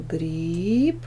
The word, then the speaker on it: гриб: Ударение ставим «гриб» на первый слог. Проверочное.